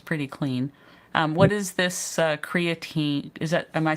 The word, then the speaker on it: creatine: What is this creatine?